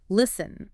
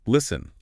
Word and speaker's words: listen: and then there's listen a lot of people might want to pronounce that t in the middle but it's silent it's just listen listen listen M got it those